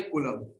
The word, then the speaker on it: Coulomb: ठीक है, इसकी ऐसा यूनिट होती है कूलम। इसकी स्पेलिंग होगी COULOMB, कूलम।